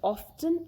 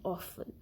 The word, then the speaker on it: often: So there is one exception, like if you consider word often, which is pronounced both as often and often. So this word, for the word often, both the pronunciations are considered correct, because initially in 1700 often was pronounced as often, then the pronunciation changed to often, and finally today we consider both the pronunciations correct.